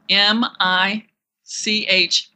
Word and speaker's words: Michal: is in Lucy e Adele m i c h a l No E no s Mi i c h a